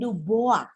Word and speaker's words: Dubois: erectus juga ditemukan di Bengawan Solo oleh newgen d'boa menulisnya ujian Dubois bacanya membaca you can do both a seorang